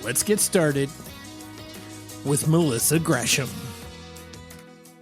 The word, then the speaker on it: Gresham: but i respect it her name is melissa gresham and did i say it right yes ron